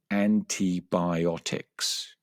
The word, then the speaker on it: antibiotics: The third one is antibiotics. Antibiotics, which is a very interesting word because there are three I vowels in that word and they are all pronounced differently.